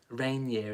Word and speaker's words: Rainier: Rainier is how it's pronounced.